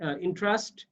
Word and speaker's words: entrust: তাহলে এন্ট্রাস্ট, দেখো এন্ট্রাস্ট হচ্ছে তাহলে হচ্ছে ইন্ট্রাস্ট, এটা উচ্চারণ হচ্ছে ইন্ট্রাস্ট হয় বা ইন্ট্রাস্ট হয়।